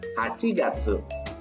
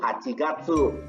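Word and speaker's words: 八月: dari bulan Juni sampai bulan Agustus sedangkan kepala pengucapannya ada sebab ini rokugatsu shichigatsu hachigatsu Jun itu rokugatsu Juli itu si tidak tuh Agustus itu hachigatsu nah udah Ingatkan Coba kamu ngomong ngomong lagi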